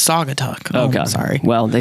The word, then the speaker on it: Saugatuck: Sagatuck. Oh, yeah. He's like, it's Saugatuck.